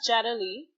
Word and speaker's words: Yadali: can follow you um so my name is jadali but it's spelled y-a-d-a-l-i and you can find